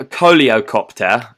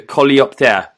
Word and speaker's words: Coleopter: So it's called the Coleocopter, or no, the Coleopter. Can you spell that for our listeners?